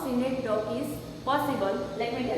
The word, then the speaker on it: synecdoche: Let's see third one, that is synecdoche. Sometimes when you see in Google, pronunciation is synecdoche.